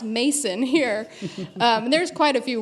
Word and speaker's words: Macon: It's supposed to sound like bacon. And I said, oh no, let me introduce you to a few country songs off the internet. It's pronounced Mason here.